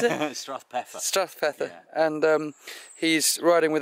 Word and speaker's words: Strathpeffer: Drew is a local, lives in how do I pronounce it? Strathpeffer.